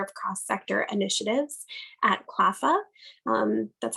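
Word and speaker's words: CLPHA: i'm the director of cross sector initiatives at clava that's how we pronounce that acronym in case this is your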